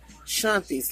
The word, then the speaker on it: Shanthi: the channel name is shanties life it's spelt Shanthi but sha en th i life but she pronounced it shanti which it's fine by